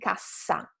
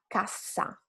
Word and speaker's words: cassa: you just need to make the sound a little bit longer than a single consonant word and stronger. For example, the first couple of words, casa and cassa. Casa, cassa.